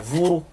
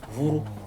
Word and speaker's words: vourou: Et en zandé, le correspondant zandé, c'est vourou. Vourou, c'est le ventre. Vous avez vu, hein? On dit vourou, on dit pas vour, on dit vourou. C'est une langue bérée, parce qu'il prononce jusqu'à la fin, ok?